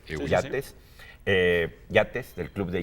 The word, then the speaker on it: Yates: Y eh hay un librín de Francis Jates, así se pronuncia, Yates, eh Yates del Club